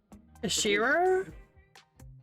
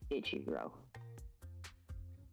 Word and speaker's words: Ichiro: Ishiro? Yeah, not how you pronounce his name at all. Ichiro.